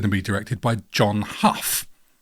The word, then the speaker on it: Hough: John how one of those pronunciations who had just done escape to which mountain in 19 I'm going to go how I reckon John how I'm going to go John how how do you